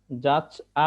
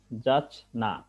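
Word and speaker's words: যাচ্ঞা: এরপরে আরেকটা উদাহরণ যেমন আমরা এটাকে অনেক সময় জাচা বলে থাকি আসলে উচ্চারণটা হবে জাচনা অর্থাৎ ইয় টা এখানে আর ইয়র মত উচ্চারিত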